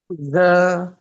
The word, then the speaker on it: ز: যা। আমরা অনেক আমরা অনেকে ঝা বলি, এরকম ঝা বলি। আসলে ঝা হবে না, আসলে এরকম ঝা হবে না।